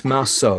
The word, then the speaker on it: Marsault: But it's Marsault because it's French origin, yeah?